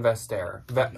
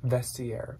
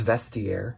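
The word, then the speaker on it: Vestiaire: these were doing good everywhere even on Vester no vestiere that's how you say it somebody told me yeah it's vestiere yeah oops I believe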